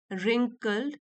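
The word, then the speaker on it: wrinkle: तो देखिए यहां पे जो रिंकल है डब्लू साइलेंट होता है इसमें रिंकल का मतलब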